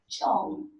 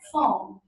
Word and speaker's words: Chong: It's Goodness First and Chong, not Fong.